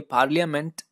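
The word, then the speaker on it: parliament: इसमें रा जो है हम बोलेंगे नहीं, तो ये पार्लियामेंट इस तरह से हम प्रोनाउंशिएट करेंगे।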